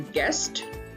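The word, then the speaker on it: guest: Then गेस्ट, गेस्ट, नो you sound.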